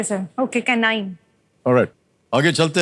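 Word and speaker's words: canine: लेकिन K9 को अगर आप प्रोनाउंस करेंगे सी ए एन आई एन ई होता है। केाइन माने कुत्ता। ठीक है सर। Okay कैनाइन।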